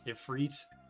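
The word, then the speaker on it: Ifrit: Hey, you guys say Ifit. Ifit ephrit. I say uh I just say ifit because it's because it's easier.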